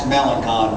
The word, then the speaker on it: Melancon: looked down on the list he said that's melanon boy and don't you ever so growing up